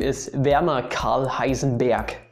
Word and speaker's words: Heisenberg: His name is Werner Karl Heisenberg, not Berg. It's not Heisenberg, it's Heisenberg. I can think of something that's equivalent in English, you could say, but just listen and repeat Heisenberg.